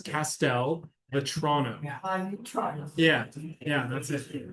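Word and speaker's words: Castelvetrano: Pastel, almost like castle. Okay. It's Castel Vetrano.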